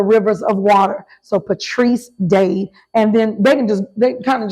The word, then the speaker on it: Dade: Patrice Dade, like Dade County, Florida, Miami-Dade. People remember that, Miami. But I tell people it's like a tree planted by the rivers of water. So Patrice Dade.